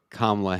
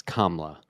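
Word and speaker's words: Kamala: to do this oh you're probably still saying kamla Harris's name wrong it's KLA we got to do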